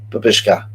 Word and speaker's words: Babushka: Is how it's supposed to be pronounced. Babushka.